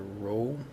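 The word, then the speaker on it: ρ: Little p and pronounce a rho.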